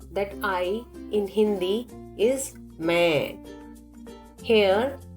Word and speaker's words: मैं: You already know that I in Hindi is main. Here, underlined N is giving nasal sound to the word and not to be pronounced. Speak with me, main, and observe the sound is going through your nose.